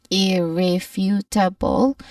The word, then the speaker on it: irrefutable: When it comes to pronunciation irrefutable there are five syllables that make up for it. first is um our main stress is on the third syllable which is few again few that's the stressed syllable but let's start with